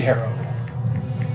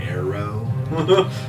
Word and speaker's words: Harrow: Wind Harrow, like you're being harrowed by the wind. Oh, okay. I was like Arrow?